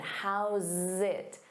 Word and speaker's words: how's it: But make sure you get that pronunciation. How's it? Zit. How's it?